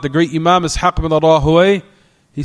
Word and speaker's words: Rahawayh: And like I said, I heard from Fadilat al-Walid, Shu'ubayd ibn Sulaiman al-Jabiri, that he mentioned and pronounce Ibn Rahawayh, Ibn Rahuyah. That you can pronounce it also that way.